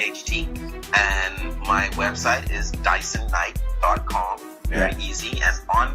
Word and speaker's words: Dyson: name is my name Dyson it's just spelled like the vacuum cleaning you I suck the